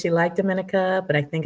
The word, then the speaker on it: Dominica: So how would you compare Dominica to Costa Rica? Harlem, am I pronouncing it wrong?